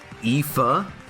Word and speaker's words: Aoife: It's pronounced Aoife.